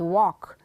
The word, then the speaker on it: walk: Lara next next line no l indeed walk next half yes but